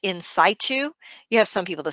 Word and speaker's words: in situ: saito neoplasms this is abbreviated CIS but it's pronounced in situ you have some people to say and said - but it's in situ I noticed they say it different in the